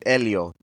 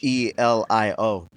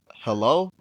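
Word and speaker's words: Helio: Uh, especially like teachers, they'd be like, "Hello." Now, I'd have to correct them. It's It's Elio. The H is silent.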